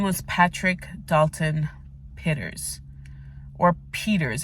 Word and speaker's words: Pitters: Patrick Dalton pitters or Peters I think it's pronounced Peter's but it's spelled pitters and his family members